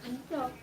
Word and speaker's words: Antioch: Antioch.